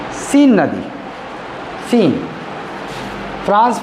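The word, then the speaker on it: Seine: सीन river है ना? एस इ आई एस इ आई एन ई एस ई आई एन ई सीन river सीन वो इतना important नहीं है सीन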